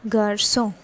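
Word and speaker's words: garçon: is a garso okay so the spellings are g a r c and this is actually a sedai okay so what is sadai this is the c and below there is another c okay which is in the opposite direction so that produces a sound like s okay so it is a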